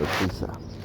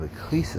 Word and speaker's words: Ecclesiastes: set of readings comes from the book of Ecclesiastes. Begin with the 11th verse, 11th chapter, 10th verse. Then we're going to go right into 12, 1 to 14. Okay, that was the book of Ecclesiastes.